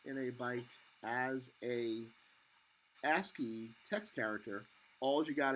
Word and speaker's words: ASCII: This is pronounced ASCII.